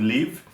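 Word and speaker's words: Liv: when we read and when we read it we pronounce it leave ee but uh down in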